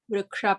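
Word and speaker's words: वृक्ष: Vriksha, please make sure that the va is having a ritva, the r dot. For the r dot, this is the ritva. We need to pronounce it as like short r sound should come. Vriksha, place for the ksha. We have to roll our tongue, the tip of the tongue, try to touch to the palate.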